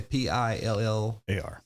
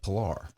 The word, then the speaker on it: Pillar: bunch of pillars running around out there it pronounced pillar pillar y okay p i l l a r a r yep say on baseball on the announcers they're calling it polar yeah people ask me all the time how